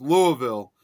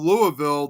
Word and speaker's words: Louisville: pronounced instead of Louisville, it's called Louisville. Here too. There's one here in Colorado, but in Kentucky, it's Louisville. Yeah, but yeah, in Illinois, it's Louisville.